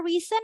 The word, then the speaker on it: reason: ya seperti itu kemudian cara baca reason apa guys it's Reason esnya pakai jadi z So it's not yes yes not lazy it's lazy lazy pakai Z ya for